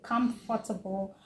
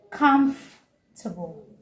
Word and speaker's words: comfortable: I hear a lot of people say comfortable or comfortable. It should be comfortable. Comfortable. Not comfortable. Comfort. No. Comfortable. No. Comfortable. Comfortable. Three syllable. And not comfortable. Making it four syllables.